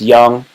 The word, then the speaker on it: Jung: do the uh jung it says it's pronounced young so it's called the